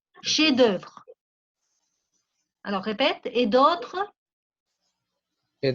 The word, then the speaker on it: chefs-d'œuvre: Obras maestras son chefs-d'œuvre. La F no se pronuncia, chefs-d'œuvre.